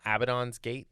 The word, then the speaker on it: Abaddon's Gate: it it's it becomes very important in uh abaddon's gate is that how you say it yes um